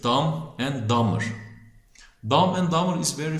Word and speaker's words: Dumb and Dumber: B'leri telaffuz etmiyoruz. Dumb and Dumber.